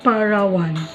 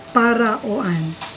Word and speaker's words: Paraoan: So when you pronounce it, Parawan. Paraoan.